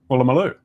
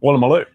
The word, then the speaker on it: Woolloomooloo: Woolloomooloo.